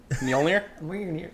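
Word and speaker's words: Mjölnir: Mjolnir.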